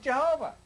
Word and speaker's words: Jehovah: And this I in Latin is pronounced J. So it became JHVH. And we made it Jehovah.